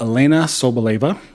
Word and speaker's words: Elena Sobleva: So today we have Elena Sobleva, Hello.